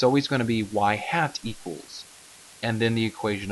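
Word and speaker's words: ŷ: get from our regression line now this is pronounced y hat and it's just a y and you put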